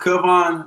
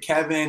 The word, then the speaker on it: Kavon: going on so what's up everybody and it's pronounced kubon no worries though man i get kevin and people and everything all the time uh